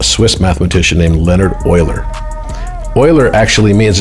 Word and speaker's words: Euler: Euler actually means, it's spelled E-U-L-E-R, but pronounced Euler, like oil.